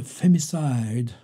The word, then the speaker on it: femicide: Alors, féminicide, en américain, ça se dit femicide, une syllabe en moins.